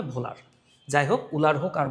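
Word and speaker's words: Wöhler: আসলে এই বানানটা ডাব দিয়ে শুরু। তাই অনেক বইতে এই বানানটাকে লিখা উলার। একচুয়াল বাংলায় বানানটার উচ্চারণ হবে ভোলার।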